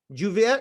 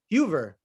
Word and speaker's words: Huber: the secret okay um Juvia jouver how do you pronounce that Mr conceal how do you pronounce your first name brother uh it's Huber Hoover yes sir you were